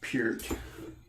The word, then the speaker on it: Peart: Lost their drummer, the great Neil Peart, as it is correctly pronounced.